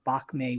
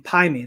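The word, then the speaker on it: 白眉: done it is called bakmei which means um white eyebrow so if you if you've seen the Kill Bill movies yeah you're getting pie me that's the Mandarin pronunciation that was a real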